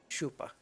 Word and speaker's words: chupa: chupas okay so then the CH is pronounced like sh sh shupa shup Cabas okay goat sucker